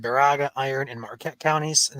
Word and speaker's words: Baraga: And did you pronounce Barrega wrong again, Ryan? Because people in chat are saying it. You're muted, but Baraga. That's what I said. Baraga. someone says Barraga.